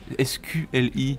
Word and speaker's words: SQLI: lanterne sur ce nom, SQLI? Et déjà, est-ce que c'est comme ça que ça se prononce et ça se prononce exactement comme ça, ouais.